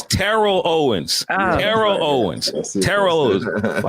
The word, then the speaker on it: Terrell Owens: It's Rick and Sasha with George Wilborn, and we got Terrell Owens with us, y'all. T.O. Hey, T.O. I was gonna say that too because I saw you check somebody and you said it's Terrell Owens.